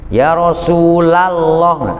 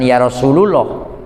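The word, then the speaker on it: يا رسول الله: Ya Rasulallah Ya Rasulallah Jadi kalau ada yakni dak bacanya Ya rosulalloh lock Ya Rasulallah karena yaitu tidak Nida itu nasab jangan yarosululoh jadi salah kalau bukan santri Mengapa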